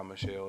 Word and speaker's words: Michel: la rams are sony sony mitchell michelle michelle however you pronounce it i think he goes by michelle is how he pronounces his last name and you have buddy